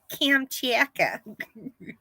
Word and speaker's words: Kamchatka: Okay, so here's how you pronounce it. Cam. Chat. Kamchatka? Mm-hmm. That sounds like something a Valley girl would say. Yeah, it's got a double A at the beginning. Cam. Kamchatka.